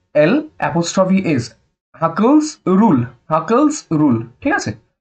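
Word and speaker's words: Hückel: কোনটা অ্যারোমেটিক, সেটা হচ্ছে হাকেলস রুল। হাকেলস, অনেকে বলবে হাকেলস রুলস, বাট হাকেলস বলে কিছু হয় না, হাকেলস। আমাদের নাক দিয়ে উচ্চারণ করতে হয়, সেই জন্য বানানটা একটুখানি দেখে নেবে।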